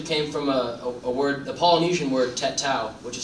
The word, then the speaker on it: tatau: It actually came from a Polynesian word, tatau, which is spelled T-A-T-A-U.